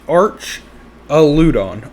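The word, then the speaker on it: Archaludon: together aralon okay so the way I pronounce it is cuz Arch is what I get a r c h Arch audon Arch audon okay we'll go with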